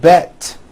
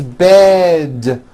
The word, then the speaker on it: bed: words with d endings bed has a voiced d ending it's not bet with an unvoiced T it's bed with a voiced d